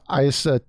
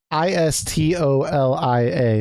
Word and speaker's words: Istolia: His official tweet says, accompanying the change in Studio ISA, I think I was pronouncing it wrong, Istolia.